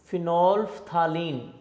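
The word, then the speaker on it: phenolphthalein: उसमें ये जो एल है ना, ये साइलेंट है, आप पढ़ भी सकते हैं, देखा जाए ना, ये फिनोल है, फिनोल, आगे फिनोल्फ्थालीन, ठीक है। इसको फिनोल्फ्थालीन भी पढ़ सकते हैं, सिंपल इसको कॉमनली फिनोल्फ्थालीन, एल साइलेंट होता है, फिनोल्फ्थालीन पढ़ते हैं इसको, ठीक है।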